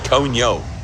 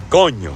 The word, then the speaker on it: coño: Now, one of the most common, mispronunciations of the word coño is coño. People break it down into 2 syllables. Oh, coño, and they try to curse it out. Oh, what happened there, coño? No, it's one word, coño.